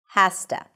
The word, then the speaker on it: has to: Has to.